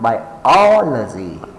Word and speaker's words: biology: Remember, for words ending in lazy and graphy, place the stress on the third syllable from the end. Example, biology, biology.